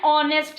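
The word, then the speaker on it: honest: Jayaprakash is एन ऑनेस्ट मैन, ऑनेस्ट एन इसलिए क्योंकि एच is silent, ओ हमें वोवेल की तरह सुनाई देता है।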